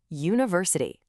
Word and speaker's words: university: For words that end in ity, we actually jump back two syllables from the end. Let's try it out. Take the word university.